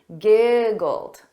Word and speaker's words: giggled: the pronunciation giggled old so notice that e d is pronounced as a very soft D giggled repeat after me giggled